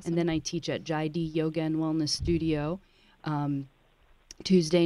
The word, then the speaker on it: Jaidee: And it's called Jive? Jaidi. It's spelled Jaidee, Yoga and Wellness Studio.